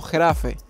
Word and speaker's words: Grave: vivo se llama grave se pronuncia algo así como getafe y en español se